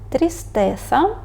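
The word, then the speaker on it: tristeza: прочитати слова в оранжевому якщо ви прочитали трістеса коносес Sia то це правильно наступне правило якщо слово закінчується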